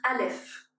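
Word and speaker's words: אלף: Elle s'appelle ALF. C'est bon d'apprendre son nom ALF et de le prononcer en même temps qu'on l'écrit alf. Donc on écrit la lettre ALF et on prononce en même temps son nom. C'est un alf. Et cette lettre ne se prononce pas en hébreu, elle supporte les voyelles.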